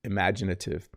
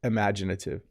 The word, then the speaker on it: imaginative: imagination a lot as imaginative let me repeat that word it's a little hard to pronounce imaginative imagination imaginative i barely say the first vowel don't i imaginative um i teach a